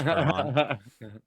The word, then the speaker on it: Hermann: I feel bad if I don't, but his name literally looks like the word German, but I'm very confident it's pronounced Hermann.